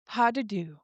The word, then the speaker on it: Pas de Deux: Today we are on episode 6 titled Padu. Thank you Lauren and Beans for the pronunciation cuz I didn't know how to say it.